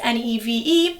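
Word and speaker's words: Niamh: this is my mom her name is Neeve spelled n i a MH pronounced NE v e she just likes to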